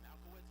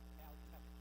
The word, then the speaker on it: Malkevich: Okay, this is Coach last name pronounced Malkowitz or Markevitz? Malkevich. Malkevich, okay.